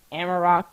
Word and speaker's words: Amarok: Amarok, I think that's how you say it, is the default KDE audio player.